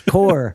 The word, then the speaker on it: Corps: Corps, and they're like, it's not corpse, it's core. And I was like, well, it's not my fault he spelled it wrong.